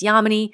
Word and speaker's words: Yamini: first met, she said, "My name is Yamini, and the way you can remember that is it rhymes with harmony," which I loved.